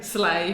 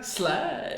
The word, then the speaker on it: sleigh: Sleigh? Sleigh. Is that familiar? Sleigh. Dashing through the snow on a one-horse open sleigh.